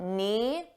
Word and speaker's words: knee: Let's talk about knee. Notice the K is silent. You don't hear it at all.